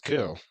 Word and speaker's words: coup: become the warlord of you say yeah it's co whatever you want to call it it's spelled CP if it was C they should spell it like a C it's a French word of course it is